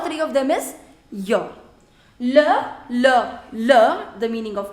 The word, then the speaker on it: leur: Attention, do not pronounce it as leurs.